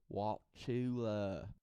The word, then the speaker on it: Wauchula: Yes, Wauchula. I say it like that because that's kind of how they talk there.